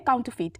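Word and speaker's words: counterfeit: हमारा अगला वर्ड है काउंटर फीट काउंट ू फीट देखिए यहां पे जो आर होगा वो हल्का सा हल्का नहीं मतलब हल्का सा बोलना होगा साइलेंट है एक तरह से काउंटर फीट ठीक है सी ओ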